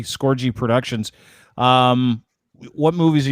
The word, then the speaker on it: Scorgie: right because it's the other otherwise people say scorgee and it it's not pronounced that way so yeah i got it i got it but it's scorgy skorgy productions um what movies are you working on